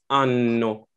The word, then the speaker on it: anno: Like, for example, for year, it's anno. But if you say anno, that means anus, right? So you really want to make sure you pronounce it correctly.